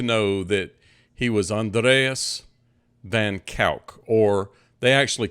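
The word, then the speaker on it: van Kuijk: Now, to me, in English, this is Andreas Cornelius Van Kijik. That is not how they pronounce it. It's Andreas Cornelius Van Kijck. So from here on, you need to know that he was Andreas Van Kijck, or they actually called him Dries.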